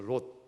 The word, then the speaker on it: 롯: 아브라함의 조카가요, 우리는 룻기를 읽었는데요, 룻하고 비슷한 그 사람이 있죠. 발음이 롯이라고 있습니다. 롯. 아브라함의 조카거든요.